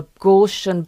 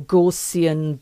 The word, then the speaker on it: Gaussian: a a blur um a gshian blur or gorsian blur depending on what whichever way you pronounce it. I say gshian blur.